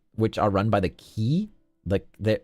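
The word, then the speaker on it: Quy: are three islands which are run by the key the it's spelled quu Y and they're based the the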